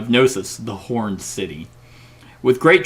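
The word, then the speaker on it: Knossos: to pronounce this though I've been saying nosos k-n-o-s-s-o-sus no yeah the gnosis the horned City with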